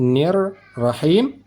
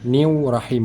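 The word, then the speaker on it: الرَّحِيمِ: cara membaca ra bertasydid nir rahim tidak perlu menambahkan huruf wau sukun new rahim newu rahim bukan begitu tetapi langsung saja nir rahim yaitu ujung lidah dari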